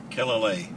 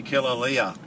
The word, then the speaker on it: Kilale: Kilale. Kilale, I got it right the first time, okay. Hawaiians say Kilalea. Yes, of course they would, yeah. Because I think every vowel is pronounced separately.